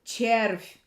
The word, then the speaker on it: червь: Again, V at the end of the word has the soft mark. So it's V is soft. Червь, червь, червь, червь. And it pronounces ch, like in the word chai, chai.